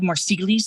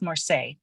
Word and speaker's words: Marseille: tarot of Marseille look it looks like more sealies to me but apparently it's pronounced Morse there's me being super